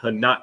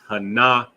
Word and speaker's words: Hanaka: So it's not Hanak, it's Hanaka.